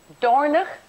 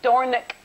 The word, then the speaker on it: Dornoch: further cause Sally's daughter don't annoy me Dorner okay none of this Dornoch that we keep getting in all the news reports Dornoch and skee-ball Robert